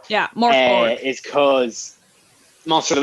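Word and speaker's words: Mörk Borg: Am I correct in pronouncing Morkborg, yeah. Morkborg. Yeah, Morkborg.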